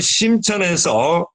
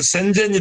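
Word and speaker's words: 深圳: 때문에 저희도 바로 그 심천에서 저희 제30차 세계한인 경제인대회를 개최하기 위해서 추진 중에 있고, 그래서 저 또한 사전에 그 지역을 둘러보고 가능성을 타진하기 위해서 지금 저 또한 심천, 중국식 발음은 센젠이 되겠습니다.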